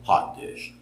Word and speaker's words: hot dish: dish but it's clearly Accent on the first syllable or word whichever that is hot dish it's a hot dish